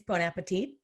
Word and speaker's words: Bon Appetit: And pronounce Bon Appetit? No, I'm from LA. It's Bon Appetit.